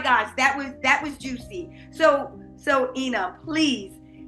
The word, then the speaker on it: Inna: And the spelling of her name, even though I'm pronouncing it like it's an E, it's a INNA, right?